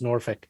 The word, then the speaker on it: Norfolk: norfolk uh and it's fun it's pronounced it's pronounced norfolk norfolk norfolk yeah trust me man it's it's